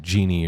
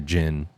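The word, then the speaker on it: djinn: And you could pronounce it genie or jin.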